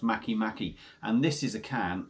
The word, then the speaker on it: MakeMake: the brewery their name Maki Maki so it sort of spelled make make but it's apparently pronounced Maki Maki and this is a